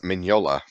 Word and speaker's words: Mignola: I learned not too long ago, it's Mignola. well, got me there. The GN use a, insane. Yeah. What? You don't pronounce the G. Oh, like in the word sign.